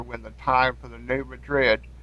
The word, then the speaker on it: New Madrid: the time for the New Madrid which is correctly pronounced new madri FL in the booill